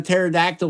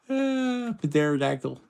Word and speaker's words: pterodactyl: Joe why doesn't a pterodactyl make any sound when it goes to the bathroom because the p is silent pterodactyl be silent why did